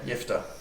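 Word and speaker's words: Jephthah: boys y y interesting so you just say soft J yeah soft J yifa apparently is can answer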